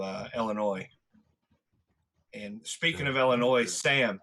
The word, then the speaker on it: Illinois: Illinois and speaking of Illinois Sam thank you for saying Illinois right it is silent s ucks Illinois no problem